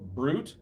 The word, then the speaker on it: Brute: So you can find my Patreon um brute spelled like fruit with a B. So. So be fruit without the B. Fruit with a B instead.